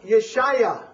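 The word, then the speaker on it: ישעיהו: salvation in the Hebrew Isaiah's name is pron pronounced yesaiah now what does that sound a little bit like Yeshua Yeshua exactly and it's essentially the same word referring to the Salvation of the Lord so yesaiah and Yeshua are very definite kin kinship words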